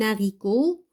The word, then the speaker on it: haricot: Elles peuvent être au début de mots, comme le H aspiré, un haricot. On ne fait pas de liaison.